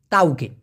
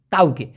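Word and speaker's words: tauke: মূলত তকে না শব্দটা হচ্ছে এরকম টি এ ইউ কে ই তাউকে তাওকে তবে ওটাকে শর্টকাটে অনেকে বলে তকে আপনি লেখার সময় অবশ্যই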